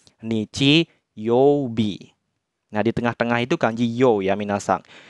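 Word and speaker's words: 日曜日: dibaca B nah ini menyatakan hari ya Minahasa dibacanya Nidji Yobi nah di tengah-tengah itu kanji itu menyatakan nama-nama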